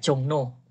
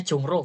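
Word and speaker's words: 종로: gamnida jalan kaki sampai jongno tulisannya jongro bacanya jongno lihat nih tulisannya jongro Bacanya apa jongno ya ya gak boleh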